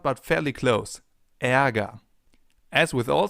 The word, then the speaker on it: Ärger: It's pronounced like this. Ä, as in Ärger, the German term for anger. And anger actually contains a sound that comes pretty close.